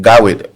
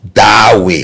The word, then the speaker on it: Dawe: So the right pronunciation of my name is Dawe. Oh, Dawe. Okay. Yeah, it's Darway.